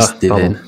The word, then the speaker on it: Steven: Zem et Steven Leroux, parce que ça se dit Steven. Steven, pardon. Et c'est un Wassantin, il est très tativant sur la prononciation de sa dernière syllabe.